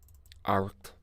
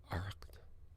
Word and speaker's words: Arracht: Aracht. CH is pronounced. You get a wee throaty thing going on with CH in the Irish language. So you get, and then the T at the end of it.